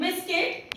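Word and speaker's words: biscuit: Just like in guitar, you के बाद आई आ रहा है तो इसे गिटार पढ़ेंगे, यू साइलेंट हो गया है। इन बिस्किट, यू के बाद आई आया है तो इसे इसमें भी यू साइलेंट हो गया है।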